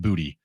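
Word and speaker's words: Boutte: Is it Boot? It's Booty? I think it's Booty. Might be Booty. It's His last name B-O-U-T-T-E. is pronounced Booty.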